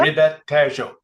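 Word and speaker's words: Ribatejo: Tejo, Riba, Ribet Tejo.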